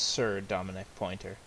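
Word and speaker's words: Sir'Dominic Pointer: And it's pronounced Sir Dominic Pointer.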